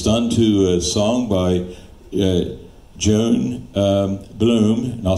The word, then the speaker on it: Johan Blohm: And it's done to a song by Joan Bloom, and I'll spell that for you.